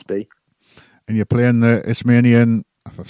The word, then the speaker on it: Isthmian: And you're playing the Isthmian, if I've said it right, League South East Division, which I was Isthmian. checking. Yeah. Is how do you pronounce it? It's the Istamin. Istamin. It's pronounced There you Istamin.